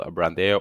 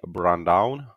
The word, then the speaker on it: Brandão: two at the show rafael brandeia or should i say brown down a lot of brazilian fans might wonder now how is that gringo able to pronounce his name correctly i probably butchered the brazilian accent but a brazilian viewer told me that that is the way his name is actually pronounced so i'm trying